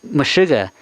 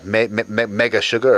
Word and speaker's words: Meshuggah: Yeah, Mega Sugar or Mega Sugar. I don't know how to pronounce that. Meshuggah, yeah.